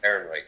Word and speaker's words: Ehrenreich: Ehrenreich. Ehrenreich, yeah.